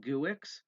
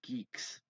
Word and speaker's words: Guix: people keep calling it guick they keep insisting that it's pronounced Geeks as it says in